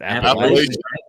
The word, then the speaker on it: Appalachian: Is it Appalachian?